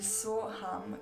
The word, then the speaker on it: Soham: Inspirando, pronunciamo a voce o anche mentalmente la sillaba su. So. Ed espirando, ham. Ham. So.